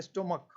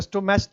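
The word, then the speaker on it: stomach: सिर्फ एस जुड़ता है स्टमक इसको स्टमच तो नहीं पढ़ेंगे स्टमच नहीं पढ़ता ना स्टमच नहीं है ये स्टमक तो स्टमक तो क्या हो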